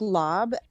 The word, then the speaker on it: larb: ] okay i make i make lob which is spelled larb which is delicious lately